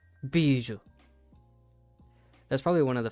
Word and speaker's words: Bijou: Beijao. Bijou.